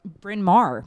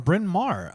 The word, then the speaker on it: Bryn Mawr: Cassie in SE a Bryn Mawr bryn mawr I sorry have a hard time pronouncing it because there's not enough vowels in it oh yeah she always